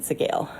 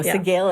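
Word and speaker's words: Sgaeyl: known that it was supposed to be said Sigale. Seagull is about the closest I've gotten. Seagal? Yeah, as in Steven Seagal. Yeah, no, Sigale is how they said it in the audiobook.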